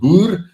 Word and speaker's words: Boer: pronunciation of uh like you will call 'n boer we call it boer uh say bar it sounds like a rifle bar but in South